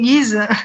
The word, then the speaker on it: Ghys: Qui se prononce comme Guise. Guise. Voilà. Guise, comme le duc de Guise.